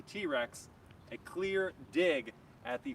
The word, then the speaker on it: TRX: But here I'm going to answer your questions about the 2021 Ram 1500 TRX, and TRX is spelled TRX, but Ram refers to it as the T-Rex, a clear dig at the Ford F-150 Raptor.